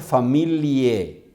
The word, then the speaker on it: familiae: Pater familiae, y se escribe familiae, y la AE se lee como E en la pronunciación.